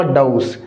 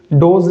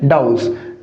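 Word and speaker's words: dose: क्या मैंने क्या बोला, डाउस, डोज नहीं साथियों, डोज उच्चारण क्या है, गलत, सही उच्चारण क्या है, डाउस।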